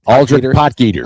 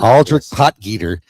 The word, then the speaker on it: Aldrich Potgieter: Aldrich Potgieter. Aldrich Potgieter.